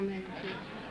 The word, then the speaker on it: Medici: Oh, Medici. M-E-D-I-C-I.